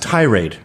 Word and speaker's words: tirade: that you're in this I believe it's pronounced tirade is it yeah too much emphasis on the tie oh really yeah you're like these pedophiles who go to Southeast Asia you emphasize the tie too much but that that is